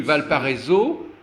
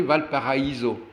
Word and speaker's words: Valparaíso: Valparaiso à la française, normalement, eux, il faudrait prononcer Valparaíso. Bien sûr.